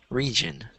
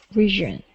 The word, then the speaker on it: region: this word which is pronounced like this region region so it's not a j because that sounds French um but it's a region kind of like a think of it like a j region there you go region